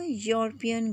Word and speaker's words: European: and not vowel sound it is producing the sound of you so because of you